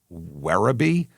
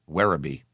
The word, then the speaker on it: Werribee: 1992, he went to Werribee? Uh-huh. W E R R I B E Werribee.